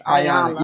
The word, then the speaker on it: Iyanla: Once somebody did ask this question, since Iyanla, how you pronounce it? It's Iyanla.